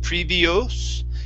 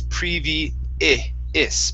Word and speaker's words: previous: Now, with previous, whoops, right here, the O-U-S, you want to pronounce that like a short I sound. Instead of previous, it's previous.